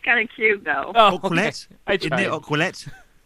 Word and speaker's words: Ouellet: right now, a former WWE Divas champion, Maryse Ouellet. Maryse, how's it going? I love how you say my last name. Did I say it right? No, but that's kind of cute, though. Oh, Ouellet.